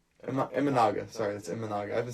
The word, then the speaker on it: Imanaga: My first shout is going to go to Shota Imanaga. Sorry, that's Imanaga.